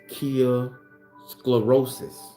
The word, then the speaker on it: Kairosclerosis: I want to make sure I say it properly, y'all. So the word is kyosclerosis. That's the way. That's the word.